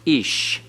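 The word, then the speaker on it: איש: the here icky ode and so it is pronounced ish notice edits has a accent over the first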